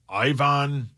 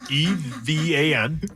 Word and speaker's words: Ivan: EVAN. E? Sorry, Evan? IVAN. I was going to say that's Evan. Evan? It's Ivan. I-V-A-N. That's Ivan.